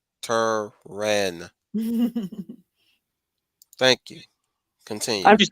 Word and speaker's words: chiropteran: They just basically say that they're corruptorants and they got the chiruptorans. Gosh, it's hard to say those names. Chiropteran.